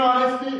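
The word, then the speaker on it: honest: एज इट इज ऑनेस्ट, एन ऑनेस्ट, जो ये एच इसके अंदर साइलेंट है।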